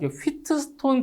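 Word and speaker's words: Wheatstone: 휘스톤 브리지의 평형입니다 자이 용어 자체가이 휘트스톤 브릿지라고 하고요 영어 발음이 차이니까 히스톤 브릿지라고 하는데 자 일단 가변저항 자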